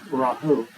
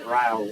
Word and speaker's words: Rahul: It's Rahul. It's not Raul. It's Rahul.